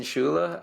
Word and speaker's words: Scuilla: you just told me your name is pronounced a way that I did not imagine so you do it so my name is schula I am a professor